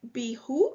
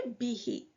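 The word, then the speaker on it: بِهِ: It is difficult to say be who. It is easier to say behe and that is the reason for the change because pronouns are fixed in shape.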